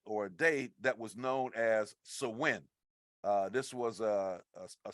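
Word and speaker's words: Samhain: night or a day that was known as swin uh this was a a Celtic uh pronounce or Celtic pronunciation uh it looks like it's is spelled s m h a i n but it's pronounced sawin uh when we look at the origin of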